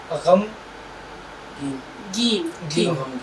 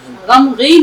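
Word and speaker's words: غمگین: लज है गमगीन गमगीन गम गम गन गमन नहीं गमगीन इसलिए हम इसको लिख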